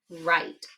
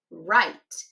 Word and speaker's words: write: Wras has a silent W. So, we just have to remember that in this word, it's spelled with a W before that R sound. And then we also have a silent E on the end, which makes the I say I.